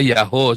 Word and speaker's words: Yahweh: Ya, saya bolak-balik ngajari bukan Yahweh ya. Yahweh, Yahoo kali. Itu tulisan YHWH itu bacanya bisa Yahoo, saudara. Ya, memang bisa dibaca Yahoo, ya. Karena akhiran he di belakang itu adalah perpanjangan wow di depannya.